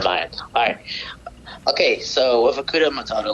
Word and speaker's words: Hakuna Matata: It's all about Akuma Matata. Oh, is it Hakuna Matata?